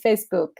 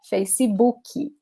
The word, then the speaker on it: Facebook: say these things guys we don't say facebook we say facey bookie youtube watches zappy okay